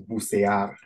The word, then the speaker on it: bucear: But just so we're clear on that, everyone, that the pronunciation is bucear. Yeah. Bucear.